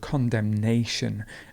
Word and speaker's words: condemnation: to condemn to condemn and it's useful to know that we have the word condemnation and the stress would move completely there so it's condem and condemnation a conference the stress moves